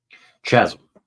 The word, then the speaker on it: chasm: snow Shimmer snow love it that Chasm Chasm that's the proper pronunciation Chasm love the crystals like piled up